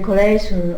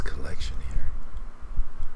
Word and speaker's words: collection: And then the collation of. Oof, how did she pronounce collection here? The collation of. Collection. It sounds like her word stress is a bit off there.